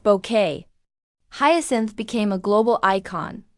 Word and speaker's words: Bucket: and the birth of Hyasin Bucket, its pronounced bouquet.